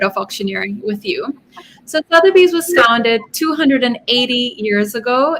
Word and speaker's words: Sotheby's: historical background of, how do you call it, Sotheby's? Yes. Am I pronouncing correctly? Yes. Oh, okay. So just give us a background of Sotheby's, when it started, and whatever you can talk about it in short.